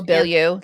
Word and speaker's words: Bilyeu: I never pronounce her name right. Oh, Bilyeu.